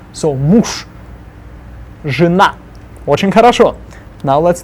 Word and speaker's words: муж: Муж. Же at the end becomes sh, so муж.